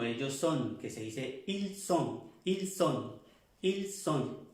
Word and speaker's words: ils sont: son, que se dice ils sont, ils sont, ils sont. La S se pronuncia bien, como en el español.